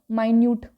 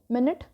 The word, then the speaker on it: minute: मिनिट अँड मायन्यूट spelling same आहे, pronunciation different आहे, meaning पण काय डिफरंट.